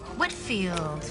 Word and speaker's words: Whitfield: Hi, I have a meeting with Olivia next week and just wanted to get the pronunciation of her last name correct. Whitfield? Whitfield.